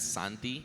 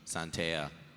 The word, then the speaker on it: Santi: You can find me on YouTube as Santi. It's spelled like S-A-N and then T. So Santi, Santea.